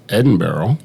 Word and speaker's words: Edinburgh: Well, we actually went to the place you're trying to pronounce is Edinburgh.